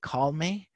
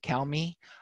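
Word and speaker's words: CalME: developed here called well i like to pronounce it call me as in relax be calm some people pronounce it cow me and this is an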